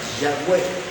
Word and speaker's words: Yahweh: Así pronunciaban la forma fonética más parecida al nombre de Dios es esa, Yahweh.